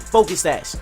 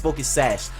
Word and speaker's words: Focus Sash: he is in fact Focus stash uh I say Focus sash stash but it's Focus sash so I apologize for that I I always get that confused I always say it like that and next turn